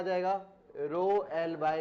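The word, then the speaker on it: rho: और प्रोनाउंसिएशन में क्या बोलते हैं? रो। आर एच ओ, रो।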